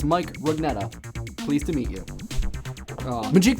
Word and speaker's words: Rugnetta: Dovesong1212 wants to know how to pronounce my last name. It's Mike Rugnetta.